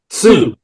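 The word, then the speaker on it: Sioux: Su is that what you say? Sue. Sue. Like Suzie in the banshees. Yeah. Sue. That sounds pronounced.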